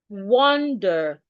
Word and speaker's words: wonder: Wonder. The E and R here makes the shua. Uh uh. You don't open your mouth when pronouncing the shua wonder.